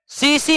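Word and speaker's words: tsetse: किसके द्वारा फैलता है सीसी मक्खी के द्वारा किसके मक्खी के द्वारा सीसी मक्खी के द्वारा इंग्लिश में इस तरह लिखते टी साइलेंट हो जाता है निम्नलिखित में किस परजीवी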